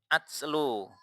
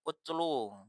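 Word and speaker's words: أتلو: Nah, ini juga jangan sampai dibaca utlu, misalkan, atau baca yang lain, misalkan bacanya apa, kemungkinannya kan cuma atslu atau utlu karena ini ada hamzah kecil di atas, kan nggak mungkin dibaca di bawah.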